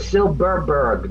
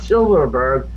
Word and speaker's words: Silberberg: That's like I got a friend whose name is Silberberg, not Silverberg. No V's, 2 B's.